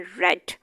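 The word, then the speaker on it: read: Spelling रीड वाले ही लिखने हैं, लेकिन बोलते हुए हमने इसको चेंज कर देना है रेड। शी रेड a book. अब अगर हम रेड की ये वाले स्पेलिंग लिखते हैं तो ये गलत है, स्पेलिंग रीड वाले ही आने, बोलते हुए सिर्फ चेंज हो जाना।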